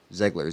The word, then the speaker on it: Zegler: cool and rachel zegler is it ziggler zeigler or zegler zegler z-e-g-l-e-r what's the german pronunciation ziggler i liked how matthew